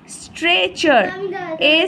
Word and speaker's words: stretcher: স্ট্রেচার, STRETCHER, স্ট্রেচার। এই টিটার উচ্চারণ হবে না, উজ্জ থাকবে, কিন্তু লেখাতে হবে, স্ট্রেচার নয় কিন্তু, তাই জন্য হবে কি স্ট্রেচার।